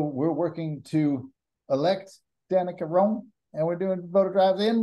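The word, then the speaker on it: Roem: working to elect Danica Rome and we're doing photograph in Rome the actual Rome I know it's spelled differently r-o-e-m Danica uh we're also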